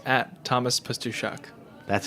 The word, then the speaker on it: Pastuszak: It's at Thomas Pastuszak.